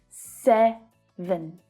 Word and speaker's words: seven: Now, with two-syllable words in English, there's always a primary stress. So here we need to put our stress on the first syllable. Sev, sev. The second syllable reduces right down to the schwa sound. It's very short and low in pitch. Vn, vn. Seven, 7.